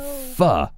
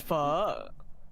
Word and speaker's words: pho: They pronounce it pho, isn't it? Isn't that the correct Yeah, I pronunciation? believe it's pho.